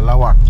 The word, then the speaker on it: Laoac: nandito po tayo sa lawak pangasinan ay lawak lawak pala yung ta ang kanilang pronunciation dito so balik po tayo